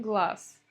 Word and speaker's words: глаз: Глаз пишем с «з», говорим глаз.